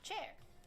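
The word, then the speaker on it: Qiear: We'll do sushi spelled Q I E A R pronounced chair.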